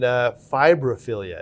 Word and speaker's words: Fimbriaphyllia: Starting with Euphyllia and fimbriaphyllia. Did I pronounce that?